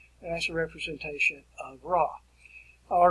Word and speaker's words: Ra: in the egyptian society is ra or my preference and pronunciation is red ray is the sun god ray is the sun